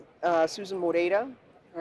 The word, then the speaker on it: Moreira: Uh first name uh Susan Mora. All right. People have a little trouble with the pronunciation on that last name a lot of times.